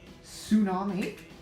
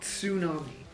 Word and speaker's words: tsunami: Um but not always because at the start of words like tsunami uh there is no there is no it's not tsunami it's it's one t it's the t is silent wow I should get